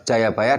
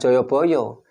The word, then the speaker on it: Jayabaya: Jadi ini nyambung yang disampaikan oleh Romo Wiku tadi, yang merupakan Jayabaya adalah keturunan Manu. Dan bacanya Jayabaya bukan Joyoboyo. Kenapa? Karena sastra Jawa itu baru mengenal vokal O itu baru abad 15.